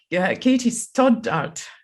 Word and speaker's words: Katie Stoddart: My guest today is Katie Stoddart. Did I pronounce it properly?